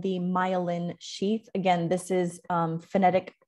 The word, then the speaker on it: myelin: is phonetic pronunciation so this syllable is the one that is stressed that's why it's in all caps and you pronounce it the way that it looks myelin so you can see